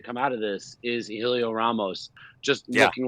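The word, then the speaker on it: Hélio: Like he's past the By the way, I like how you said Helio because they keep saying Heliot, and I'm not down with that. No, it's Helio.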